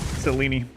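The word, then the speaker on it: Selene: I'm going to go upgrade very good cor pronunciation selini cini right sine rhymes with weenie these days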